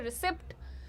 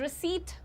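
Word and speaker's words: receipt: लेकिन पी को साइलेंट रखिए। जैसे साइकोलॉजी में पी को साइलेंट रखते हैं वैसे ही।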